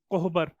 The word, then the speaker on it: कोहबर: भरनी हो गया, तांत्रिक हो गया, कोबार हो गया, कोबर हो गया, मतलब इसको कैसे प्रोनाउंस करते हैं, KOHBAR, कोहबर, इस तरीके से।